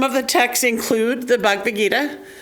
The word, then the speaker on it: Bhagavad Gita: And some of the texts include the Bhagavad Gita, which I always say wrong. I leave a syllable out in the middle. I just realized as I said it.